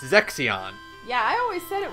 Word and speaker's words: Zexion: Like, there's one, the silver-haired, like, youngest-looking one, who is, like, the scholar, is not Zeshin, like I thought, it's Zexion.